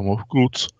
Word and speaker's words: MFKZT: Jsme se bavili o Maně, mám za to, o kamenu, který v podstatě nese takový původní, velice zvláštní název MFKZT, nebo Mofkuc, čte se to Mofkuc, zase vycházíme z hebrejštiny, kde ta starohebrejština a staroegyptština tam s těma samohláskama byly trošičku na štíru.